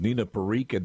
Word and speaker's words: Nina Parikh: Nina Parikh, did I pronounce the name right?